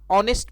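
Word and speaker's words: honest: अब दूसरे फ्रेज को देखते हैं, ऑनेस्ट मैन, और यहाँ पे जो फ्रेज है यह एच से शुरू हो रहा है, लेकिन इसका जो साउंड है अ है, क्योंकि यहाँ पे एच साइलेंट है, और जहाँ पे कोई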